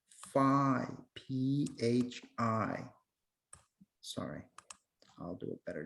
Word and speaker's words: phi: Or you can use the Greek letter phi, P-H-I. Sorry, I'll do a better job. Okay, this is pronounced phi, and if you want to write it, that's how it's spelled.